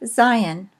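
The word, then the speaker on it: זין: Next is the letter Zion. It is pronounced like our Z.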